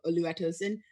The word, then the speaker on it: Oluwatosin: give about lua tosun they call me olu because it's easier to pronounce but oluwatosin uh about me okay